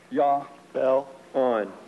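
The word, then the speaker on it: Jahbulon: The name is Jobulon. It is a combination of three words, Jehovah, Baal, and Osiris, the Egyptian sun god. Yah, Baal, On. Yah, Baal, On.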